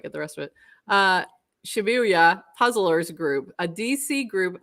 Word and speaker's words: Shibuya: How do you pronounce that? Shibuya? Shibuya? Shibuya Shibuya.